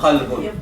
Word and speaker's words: قلب: qa, ka. Bueno, qa, ka. Entonces puede tener problemas si tú hablas con una persona, decirle anta qalbun o anta kalbun. Dice anta qalbun, anta kalbun.